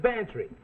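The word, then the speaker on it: Bantreagh: club that's spelled m-a-c-l-e-o-d well this is bantry go on spell it fancy sounds like pantry i know gambler max we'll get this for free it sounds like pantry that's spelled b-a-n-t-r-e-a-g-h you lost your fin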